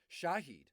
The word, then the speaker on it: Shaheed: Smith, Marquez Callaway, Rashid Shaheed, and it's spelled, they're both Rashid, Rashid, and then the last name Shaheed, Saheed. So Rashid, Shaheed.